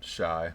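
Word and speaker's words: Shiey: okay uh yeah I I watched this guy called Shai my mom and I do uh s sh IE y is how you spell it he makes fantastic videos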